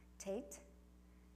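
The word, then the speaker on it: tet: And then on slide 60, we have our tate, like top, T sound.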